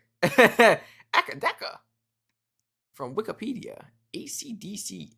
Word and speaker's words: AC/DC: From Wikipedia, AC/DC is pronounced one letter at a time.